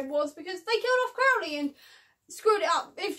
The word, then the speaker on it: Crowley: Also, I'm now going to jump slightly to pronunciation here, because Crowley is pronounced Crowley, and I've been pronouncing it as Crowley for about 2 years now, because I'm a massive